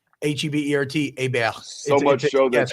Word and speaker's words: Hebert: a natural French pronunciation H EB e r t AB so much show that you go bu an acronym you're right it's silent h and yes T-Bob means